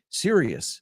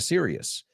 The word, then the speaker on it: Sirius: Sirius, pues se pronuncia Sirius. Aunque no lleva la O, se pronuncia igual que serio.